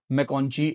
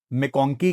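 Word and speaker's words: McConchie: रहा था उनमें डेफिनेटली मैकोंची एक हैं। मेकोंकी कह लें, मैकोंची कह लें दोनों तरीकों से भाई की प्रोनाउंसिएशन है।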